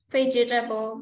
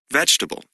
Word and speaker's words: vegetable: a listen and practice the vowel immediately after a stressed syllable is sometimes not pronounced average different separate comfortable interesting vegetable okay now listen again